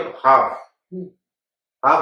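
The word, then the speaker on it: half: क्योंकि अब हाफ हम जानते हैं कि आधा, हाफ में एल साइलेंट है।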